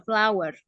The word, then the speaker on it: flour: Ya, tepung itu memang tulisannya flour ya, tapi cara membacanya bukan flour ya. Cara membacanya sama seperti kamu mengucapkan bunga. Bunga apa bunga bahasa Inggrisnya? Flour. Ya, sama seperti itu ya, flower.